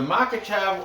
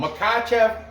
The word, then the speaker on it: Makhachev: Islam makisha is it is a makachab or I've heard it pronounced in other ways too makacho oh makachev or makatev Islam Islam this guy